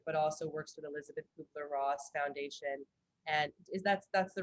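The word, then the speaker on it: Kübler-Ross: life care expert, but also works with Elisabeth Kubler-Ross Foundation.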